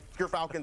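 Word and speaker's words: Gyrfalcon's: We actually, off screen, we're figuring out how it's pronounced. But Gerfalcons, everyone, so anyone who mispronounces it, that's how you say it.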